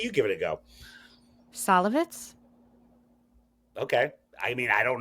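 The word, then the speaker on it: Szalavitz: Salavitz? Okay. I mean, I don't know. It's Salavitz, so perhaps you are pronouncing it correctly.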